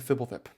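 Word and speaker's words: Fblthp: at yourself and know that it's borborygmos and fibblefip because that card is hilarious Corruption of tawashi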